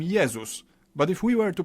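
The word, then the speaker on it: Jezus: favorite religious figure Jesus in Polish we call him yeus but if we were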